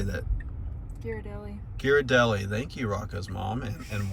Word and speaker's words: Ghirardelli: Ghirardelli. Thank you, Rocco's mom and wife, for the pronunciation.